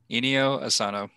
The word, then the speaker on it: Inio Asano: him that much eh one more time rob inyo asano my man he also wrote good night pun